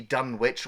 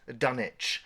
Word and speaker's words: Dunwich: will call it the Dunwich, or the town of Dunwich, but it's actually pronounced Dunwich, like Greenwich Village.